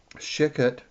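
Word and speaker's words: Shecut: Shikut, I guess is the way you pronounce this man's name.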